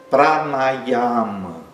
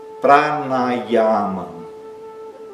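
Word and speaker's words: प्राणायाम: muito diferente do português, que é pranayama, que tem três as abertos longos. Pranayama. Pranayama. O último ar curto e fechado, que significa um exercício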